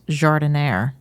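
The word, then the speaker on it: giardiniera: think it's so weird how it's pronounced jardinare I hope I'm saying it right no you are or at least you're saying it the way people here in the US say it in Italy I believe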